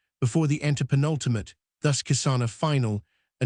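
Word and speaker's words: किसान: When a word ends in a preceded by a single uncompounded consonant, the A is not pronounced. Thus kisana sounded kisan.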